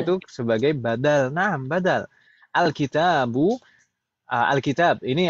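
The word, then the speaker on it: الكتاب: Alkitab. Ini alkitab bacanya alkitabi.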